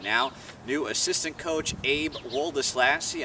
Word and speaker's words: Woldeslassie: new assistant coach Abe oldest lassy I'm told the name is pronounced exactly how it looks Aldus lassie coach ape thanks for